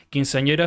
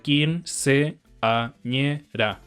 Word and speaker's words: quinceañera: Entonces, por ejemplo, en un hiato, o comillas correctamente, quinceañera sería quinceañera. Pero en la música o en el habla común se condensan estas dos vocales en una sola sílaba. Entonces sería quinceañera, una diptongación de hiatos.